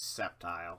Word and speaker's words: Sceptile: And yes, I know the actual pronunciation is Sceptile, I just don't care.